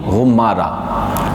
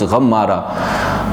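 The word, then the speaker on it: Ghumara: Hazrat Sheikh Abul Hasan Ali Shazili rahmatullah alayh, he born in Ghummara. Ghummara is the place, or you can pronounce Ghammara, but mostly according to few narration that you can pronounce Ghummara.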